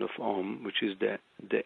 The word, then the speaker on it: Om: when I studied academically oh is om but if you see om is om a m that really is when you can break it into these three syllables and um it was